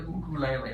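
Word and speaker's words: ukulele: how to play the cuckoo lai lai by the way we pronounce it that way because in Hawaii they say oh cool a lei as opposed to you later now I can count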